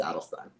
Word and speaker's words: Adelstein: by the way, like you've been saying my name wrong for years." I don't really give a but then he like felt terrible and he's like, "All right, new day." Like, I'm gonna start saying it right. So, anyway, but yeah, you got it. It's Alstein. Edstein.